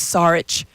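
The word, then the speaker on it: Šarić: really emphatically being like it is sarch it's sarch SAR and because we were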